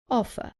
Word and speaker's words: offer: Offer. Remember that in British English, the R at the end is not pronounced. So the last sound is an offer.